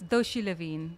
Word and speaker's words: Doshi Levien: It's Doshi Levien.